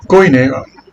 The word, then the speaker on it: koine: El koine, se lo pronuncio así porque ustedes lo conocen así. En clase no, en clase lo tienen que pronunciar como es. El koine es como una variación, como un modismo, ¿no?